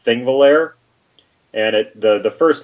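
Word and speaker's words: Þingvellir: English language, I guess, but it's pronounced with a TH at the beginning.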